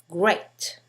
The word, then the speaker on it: great: give you an example if you think that the combination of letters E and A always sound like e as in Gan then you will mispronounce the following words great here learn instead so this is the best example of the same combination of letters EA having five different sounds another tricky letter is